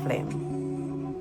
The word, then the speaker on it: film: And sometimes I'm just crocheting for my own self-care and I forgot to flim. Oh, did I say flim just now? That's a Jamaican pronunciation for film.